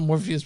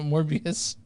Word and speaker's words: Morbius: By the way, guys, not Morpheus, but Morbius.